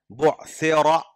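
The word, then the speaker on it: بُعْثِرَ: बुअसिरा रा पर ज़बर है तो मोटा पढ़ना पड़ेगा।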